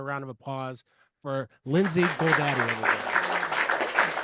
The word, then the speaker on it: Goldade: of applause for Lindsay Goldade. I said it right, didn't I? Yeah, you did. Yeah, you did. Yeah, thanks for that. It's easy. It's like the GoDaddy site, like you can just kind of like remember it that way.